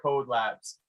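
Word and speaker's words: COD Labs: the question you know how do you pronounce is it Cody is it code it's it's pronounced code Labs um and so what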